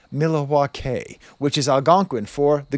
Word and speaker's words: Milwaukee: It's actually pronounced Milawa which is alangquin for the goodland.